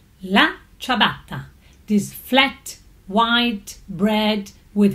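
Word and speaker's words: la ciabatta: you must taste it the famous Italian chabata correctly pronounced as la chabata this flat white bread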